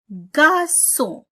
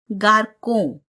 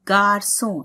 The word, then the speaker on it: garçon: Le garçon. See, if you are not putting this sign, then it will be le garçon. And that will be wrong. The pronunciation will be wrong. So, le garçon.